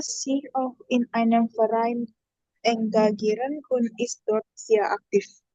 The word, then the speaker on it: engagieren: Engagieren. Ini Französisch. Engagieren. Enga- Engagieren. Ya, good ya. So, kata ini juga ini dipakai sama bahasa Jerman artinya lantai ya, stock. Ya, tapi bacanya Prancis ya, etage.